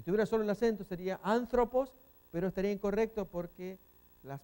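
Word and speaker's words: ἄνθρωπος: Aquí, esta es una palabra estrújula. Tiene 3 sílabas. Pos es una, thro es otra y an. Esta es la Z. Thropos. Ahí tenemos la pronunciación. Anthropos.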